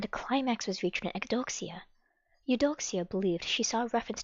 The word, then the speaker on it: Eudoxia: The Empress Eu Doxia. I'm assuming that's the word eudoxia, but just to ensure that we are accurate, let's always make sure we are correcting ourselves as scholars and Eudoxia. students. Eudoxia.